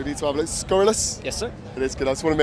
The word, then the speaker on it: Scurrilous: which is, I need to have a look, Scurrilous. Yes, sir. It is good. I just want to make sure I pronounced that right.